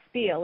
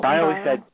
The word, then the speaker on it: spile: It's not spiel, is it? I think it's spile. I said spile, like bile or trial.